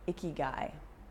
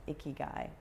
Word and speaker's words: ikigai: your reason for being it's called Hickey guy i ki GA I Hickey guy it is that thing